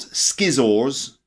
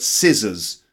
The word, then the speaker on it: scissors: here we go scissors now scissors not Skiz ores but scissors so can you repeat